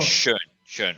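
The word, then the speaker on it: Schön: He's very how do you pronounce his last name? Donald what's Shaw? Schoen.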